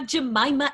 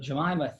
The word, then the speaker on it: Jemimah: And it's pronounced Jemimah, correct? It is. Really easy way to remember. Aunt Jemimah. Oh, very easy way to remember. Well, Jemimah, thank you, coming all the way from Australia.